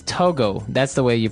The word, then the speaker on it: Togo: um but when we talk about the country Togo mhm what do we call a person from that country toges toiz okay so it's Togo that's the way you pronounce it because if